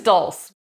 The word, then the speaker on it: dulse: This is dulse, which rhymes with pulse.